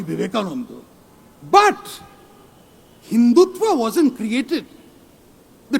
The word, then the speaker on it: Vivekananda: Of course, he got one thing wrong. It is pronounced Swami Vivekananda.